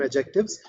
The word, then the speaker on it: adjectives: definition once again adjective the D here is silent so we call them adjectives uh adjectives are those